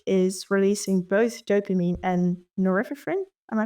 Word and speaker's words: norepinephrine: This was dexamphetamine, by the way, which is releasing both dopamine and norepinephrine. Am I pronouncing that right?